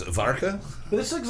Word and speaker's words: Warka: We're going to attempt to pronounce it Varka. This looks like Polish Budweiser to me. Oh, Warka. Varka? The bottle. Is the V a W? Is the W a V?